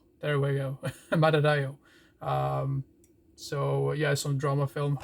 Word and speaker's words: Madadayo: My God, I can't even pronounce it. But you have to judge for yourself. Madadayo. There we go. Madadayo.